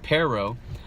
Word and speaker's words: pero: fatal now listen to the English pronunciation first pronunciation first it's pero but if you roll your if you roll